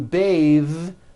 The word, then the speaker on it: bathe: But when you change it into a verb, to bathe, the vowel changes to an A sound and the TH is voiced.